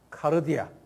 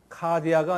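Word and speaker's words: καρδία: 레브 또는 카르디아. 카디아가 아니고 카르디아.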